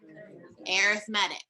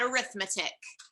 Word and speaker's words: arithmetic: something as well so arithmetic everybody say it arithmetic not arithmetic um but again it's just same spelling different pronunciation what is that called